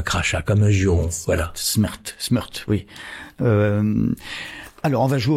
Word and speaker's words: smrt: À propos de Kundera, vous dites que le mot mort se dit smrt. Oui, c'est-à-dire qu'il n'y a pas de voyelle, S-M-R-T. Oui. Et que ça se prononce comment? Smrt. Oui. Ça veut dire mort. Oui. En tchèque.